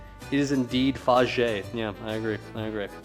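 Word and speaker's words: Fage: Faj is it not fier? It's not. It's faj. It's pronounced gina.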